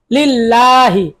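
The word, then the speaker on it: الله: লিল্লাহ হাজের হি লিল্লাহি আল্লাহ শব্দের দুই নিয়ম মোটা আর পাতলা জবর আর পেশে করে মোটা আর জেরে করে পাতলা আল্লাহ শব্দের লামের ডানে যদি জবর বা পেশ হয় আল্লাহ শব্দের লাম মোটা করে পড়তে হয় যেমন আল্লাহু আর আল্লাহ শব্দের লামের ডানে যদি জের হয় আল্লাহ শুধু লাম পাতলা করে পড়তে হয় যেমন হচ্ছে লিল্লাহি আলহামদু লিল্লাহি র জবর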